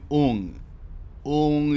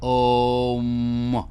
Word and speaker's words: ओम: हाँ, ओम मत कहो, मैं ओम कहता हूँ, क्योंकि बंगला में ओंग यानी ONG की तरह सुनाई देता है, मगर असल उच्चारण संस्कृत में पूरा है AUM, आ उ म, यानी कि माँ है अंत, ओम, मुंह को बंद करके।